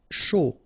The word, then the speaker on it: chaud: Chaud. Final D not pronounced, and then when you combine this C and H, you get the sh sound.